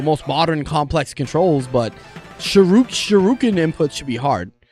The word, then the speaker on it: Shoryuken: modern, complex controls, but Shoryuken inputs should be hard. Or Shoryuken is technically how it's pronounced.